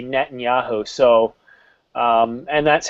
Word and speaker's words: Netanyahu: Well, in English, though, we say Netanyahu.